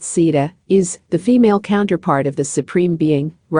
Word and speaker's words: Sita: Sita, pronounced Sita, is the female counterpart of the Supreme Being, Rama.